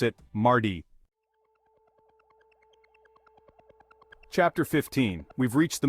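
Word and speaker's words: mardi: day is Tuesday or Marty in French we pronounce it Marty chapter 15 we've reached the middle of the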